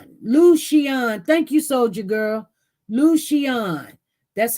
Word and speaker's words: Lucian: Lucian, that's how you're going to pronounce his name, Lucian. Oh, that's beautiful. Lucian, that's how to pronounce his name, Lucian.